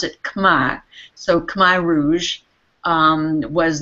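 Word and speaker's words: Khmer: in Cambodia their original culture is called the Kamai culture it's spelled KH hm R we might say k as in C Rouge but it they pronounced it kma so Kar Rouge um was the takeover of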